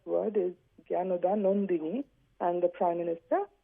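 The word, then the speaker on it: Jnanadanandini: It is apparently the correct word is Gyanoda Nandini, and the Prime Minister pronounced it differently.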